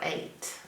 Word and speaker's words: eight: food but this is the number eight and it is spelled really strange e I G h t we have two sounds in the word eight and all four of these words are making one sound a a eight so we got two